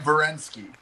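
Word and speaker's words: Werenski: Just for correction, Zach Verensky. Okay, so you're saying Verensky, the W sounds like a V.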